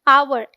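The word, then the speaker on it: hour: एच ओ यू आर क्या पढ़ते हैं? आवर। एच साइलेंट होता है, तो जो ध्वनि आती है वो आ की आती है, हिंदी के स्वर आ की, ठीक है।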